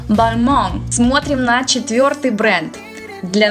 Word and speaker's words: Balmain: Так, ударение на последний слог. N не читается, как обычно у французов. Получается Balmain. На англоязычный манер название этого бренда произносится как Balmain. Oh my god, this is Balmain. Но у него французские корни, поэтому правильно будет Balmain.